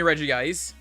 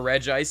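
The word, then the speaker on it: Regice: much original pokemon yeah like shiny reggie ice or red ice however you want to pronounce it i always say reggie ice but uh yeah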